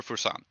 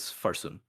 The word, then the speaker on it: Farsoon: Is it Farsoon or Fursan? So I keep making the mistake, but it is Farsoon.